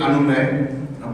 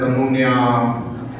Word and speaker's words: Anuny: So my first name is Anuny, but it gets very interestingly, pronounced as Anunya, Anuny, and then I've also got a mail from somebody who addressed me as Dear Dr. Anoy.